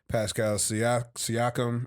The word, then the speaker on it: Pascal Siakam: I mean, listen, there's been some great individual performances from NBA, like Donovan Mitchell, Pascal Siakam, right?